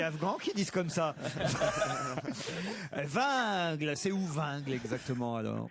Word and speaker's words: Wingles: C'est Vingle. Vingle et non pas Wingles.